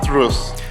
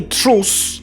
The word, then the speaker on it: truth: he doesn't remember no this is not the truth well this is a common pronunciation mistake for french speakers you don't say truth but truth actually the th sound is either